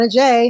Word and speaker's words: Adjei: But today we have a special guest, my friend, my very, very, very dear friend, Adjei is with us. Is that how I pronounce it? Yes, Adjei.